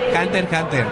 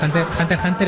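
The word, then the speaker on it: Hunter × Hunter: Una fe de rata, Jenny, que ninguno pronunciáis bien la serie, ¿eh? Hunter x Hunter. La X es, digamos, anecdótica. Te dejas el apellido, Hunter x Hunter es Dios.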